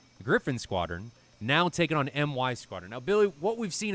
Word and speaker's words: MY Squadron: be 343rd taking on MY Squadron. I, in the past, have pronounced it as My Squadron, but I was corrected, and it is MY Squadron for a Malaysian squadron against 343rd, who I